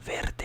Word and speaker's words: verde: Verde is more like a longer roll of the R.